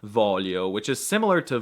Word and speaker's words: voglio: It's so difficult to pronounce the GL sound. It's like io non voglio.